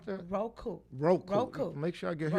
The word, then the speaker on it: Roku: How you pronounce that? Roku.